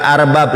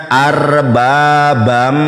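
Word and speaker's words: أَرْبَابًا: Ada tasdid dibacanya bukan arbab. Ini enggak ada enggak ada sukun. Kok bisa dia baca arbab? Dibacanya arbabam. Ada idgam bigunah.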